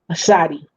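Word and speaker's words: צדי: T is more of an S sound, correct? Yeah, like CATS, that TS on the end of the word cats. Okay. That's the pronunciation of this, the Sadi.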